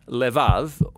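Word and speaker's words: לב: this prayer heart which in hebrew is sometimes pronounced lev or more often in a shorter form lev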